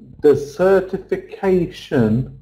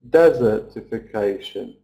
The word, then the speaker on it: desertification: You know, when we've got the suffix shun, we always have to stress before the suffix. So even though desert, it's stressed on the first syllable, isn't it, usually? So we feel like saying desertification. But we can't, because we have to stress on the A sound.